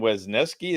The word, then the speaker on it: Wesneski: Hayden Wesneski, is that how you pronounce it?